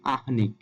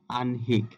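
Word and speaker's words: আহ্নিক: আহনিক এই উচ্চারণগুলো ভুল এখানে উচ্চারণ করার ক্ষেত্রে নটা আগে উচ্চারিত হবে যেমন আনহিক আবার যেমন চিহ্ন নটা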